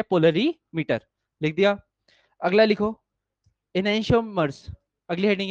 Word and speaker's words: enantiomers: अगला लिखो, इनैंशियोमर्स। अगली हेडिंग है इनैंशियोमर्स, स्पेलिंग ENANTIOMERS, इनैंशियोमर्स, ENANTIOMERS, इनैंशियोमर्स।